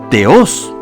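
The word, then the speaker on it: θεός: Dios sin que le preceda ningún artículo se pronuncia teos extrañamente en la tercera fila Pese a que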